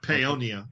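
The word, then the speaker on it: Paonia: Colorado is am I saying it right yep ponia ponia and uh a beautiful place out there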